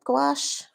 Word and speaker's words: gouache: And then I had a French student, and she said, no, gouache rhymes with ash.